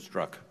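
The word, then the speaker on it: Strzok: struck it I wanted to get the pronunciation right where I've heard it about five times different ways today struck is that struck okay so mr.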